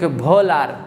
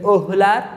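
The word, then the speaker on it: Wöhler: একটা তোমরা শুনেছিলাম ফ্রেডরিক ভোলার, তার নাম আসলে ফ্রেডরিক ওহুলার, ডাব্লিউর উচ্চারণ জার্মান ভাষায় সেটাকে ভি এর মতো, তাই তখন ফ্রেডরিক ওহুলার থেকে ফ্রেডরিক ভোলার বলে থাকি আমরা।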